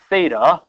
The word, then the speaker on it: theta: it's like an egg with a crack okay it's spelled uh Theta that's the Greek uh the English is let's